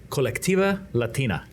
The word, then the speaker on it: Colectiva Latina: So, what is Colectiva Latina? Very good pronunciation, by the way.